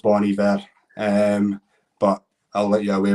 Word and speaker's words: Bon Iver: there, just saying, ask him to sing Exile Born Iver. Is that what he's saying? And Taylor Swift. It's pronounced Bon Iver, but I'll let you away with it, Stim.